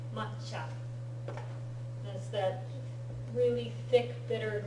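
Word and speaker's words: 抹茶: Matcha. You'll see it spelled M-A-T-C-H-A. Matcha. That's that really thick, bitter green tea that they serve in the tea ceremony. Matcha.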